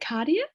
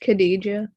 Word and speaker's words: Khadija: Okay, Is it cardia? Oh no, it's pronounced Khadija. Khadija.